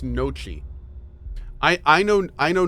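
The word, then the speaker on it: gnocchi: noi well do you pronounce g n o c c i as noi is your English maybe cuz you're thinking of it like Gucci maybe maybe that's why Noki okay so why is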